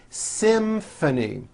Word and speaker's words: symphony: the same thing in this next word Symphony this is a tricky one because you've got the M sound followed by an F sound Symphony and the last word